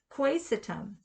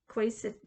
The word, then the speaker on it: quaesitum: Quaesitum. Quaesitum. Quaesitum. But the emphasis was on the quay.